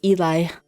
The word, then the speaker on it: Eli: Oh, okay, it's not Ellie, it's Eli.